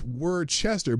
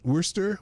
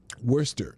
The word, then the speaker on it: Worcester: ] it's pronounced it's Worchester but it's wor Worster Worcester Massachusetts okay um Worster well that you know like the sauce you we're Chester sauce